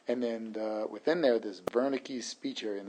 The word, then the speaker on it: Wernicke: And then within there, this Wernicke speech area, and this W is pronounced like a V. So the Wernicke speech area is the